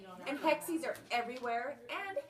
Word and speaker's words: hexie: go yes right and hexis are everywhere and hexi is a cute word it is it is no rhymes with sexy I mean anything that